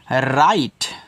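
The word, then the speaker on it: write: गाना अरे यार गाना डब्ल्यू आर आई टी इसको पढ़ते हैं राइट राइट और राइट का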